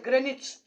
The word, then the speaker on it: Greenwich: its spelling is a green which but its pronunciation is greenwich g r e n i c h greenwich